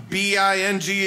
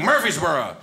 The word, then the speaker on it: Murfreesboro: It's not like Murphy, like an Irish. It's like Murfrebing.